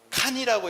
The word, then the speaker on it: 간: 박혀세가 13세가 되어 진난 육부가 함께 받들어서 박혀 거서관이 되었다라고 합니다.이 간이라고 하는 것은 칸이라고 읽으면 됩니다. 우리가 알고 있는 친기스 칸 있잖아요.